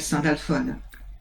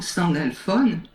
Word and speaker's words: Sandalphone: J'ai voulu mettre un E parce que phonétiquement, Sandalphone, ça me semble beaucoup plus doux que Sandalphon.